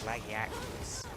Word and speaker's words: Lagiacrus: I'm still surprised the pronunciation is laggy actors.